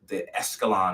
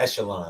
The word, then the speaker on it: echelon: And that's the best part, is when now you've made it to the Escalon, I want to say. Am I saying it right? The echelon. The echelon.